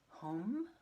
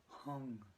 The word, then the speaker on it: Hum: Now some people pronounce that home. I've been taught you actually pronounce it H-U-N-G, Hoong.